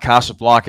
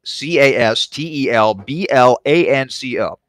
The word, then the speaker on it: Castelblanco: And no, his last name is not Casablanca, as in the classic movie starring Humphrey Bogart and Ingrid Bergman. It is spelled Castelblanco.